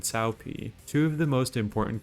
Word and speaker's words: Cao Pi: Cao Cao and Cao Pi. Cao Cao and Cao Pi are both mispronunciations of the names Cao Cao and Cao Pi, two of the most important characters in Dynasty Warriors.